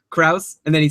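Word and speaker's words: Crouse: Oh, we're seeing in the chat room rhymes with house, Kraus, and then he says he doesn't even know.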